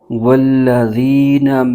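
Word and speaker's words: والذين: ہجے یوں کریں گے، واو لام زبر ول، لام زبر ل، ول، ذال یا زیر زی، والذی، نون زبر ن، والذین۔ نون ساکن یا تنوین کے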